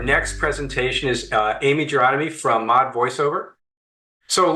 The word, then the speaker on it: Gironimi: my name is Amy jomy my last name rhymes with astronomy in case you're wondering how to pronounce it um I am here